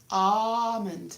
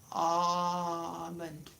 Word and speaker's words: almond: Almond. Almond. Why is it not almond? Apparently in Spanish and Portuguese it's al. But apparently the French pronunciation was ah. So that's what everybody used.